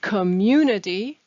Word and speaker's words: community: disaster post-natural disaster communities the word community has the stress in the middle new communities and i'd